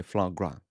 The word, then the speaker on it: foie gras: পশ্চিমের সব জায়গাতেই কিন্তু নামটা এসেছে ফ্রান্স থেকে। সেজন্য উচ্চারণটা হচ্ছে ফ্লাঁ গ্রা।